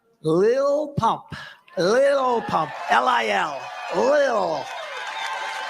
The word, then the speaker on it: Lil: Lil Pump, L-I-L, Lil. I said, how do you pronounce that? They said Lil.